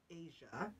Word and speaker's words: Eja: Asia is how it's pronounced, but it's spelled EJA.